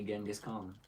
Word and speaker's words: Genghis Khan: Modern day Genghis Khan. Yeah. Good old Genghis. Apparently, that's how it was actually pronounced.